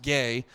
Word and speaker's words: GAI: There's some band, and hilariously, I think they're pronounced gay. GAI.